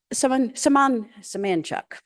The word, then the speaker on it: Semanchuk: Philip Semanchuk is an IT professional who lives in Pacifica Co-housing in Carrboro, North Carolina. His surname comes from and is it pronounced Limco? Limco people, and is pronounced Semanchuk.